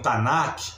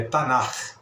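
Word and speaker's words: Tanakh: assistir vai me falando tanak aí ele falou Professor você não entende não você não conhece não não é tanac que fala né É tanar É a pronúncia correta no hebraico né mas a gente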